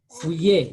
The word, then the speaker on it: fouiller: Fouiller, yeah. I want you to Fouiller. get used to the, how would we call it? I want to get used to ILL. So we say fouiller.